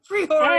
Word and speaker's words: Priore: Super, super excited to have Priore. Am I pronouncing it right? Yeah. Yeah, kind of. Priore.